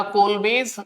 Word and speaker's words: Kolbe: किससे शुरू करते हैं कोल् इलेक्ट्रोलिसिस से शुरू करते हैं नाउ राइट रिएक्शन इज कोल् या कोल बेज अलग-अलग तरीके से प्रोनाउंस किया जाता है इस रिएक्शन को